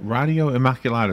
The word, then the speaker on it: Radio Immaculata: Radio Immaculata is how you pronounce it, .org.